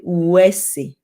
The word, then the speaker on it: uwese: all those things, So, but it is actually uwese. It's just that it comes out like a W, but it's not a W sound. It is this.